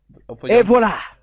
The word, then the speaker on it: et voilà: Et voilà!